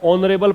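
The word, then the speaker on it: honourable: ए नहीं लगता है, इसको ऑनरेबल पढ़ते हैं, एच को मत पढ़ो, एच है तो सही लेकिन प्रोनाउंस जब करते हो, उच्चारण जब करते हो तो यहां से पढ़ना शुरू करो, ऑनरेबल, ऑनरेबल से पहले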